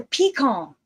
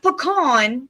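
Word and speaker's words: piquant: It's a peacon. I still hear peon. No, not peon.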